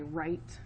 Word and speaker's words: write: So like when I write, I literally have to twist my wrist around, right? So that helps me to remember that silent W is because I twist.